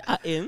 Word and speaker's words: Artin: never say the T. They don't mention the T. It's more like a silent letter. it's good to have you here. Bakogera bati Artin.